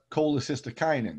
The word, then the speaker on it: cholecystokinin: digestion hence the name gastrin we then have cholecystokinin that's how you pronounce that weird word cck is pronounced cholecystokinin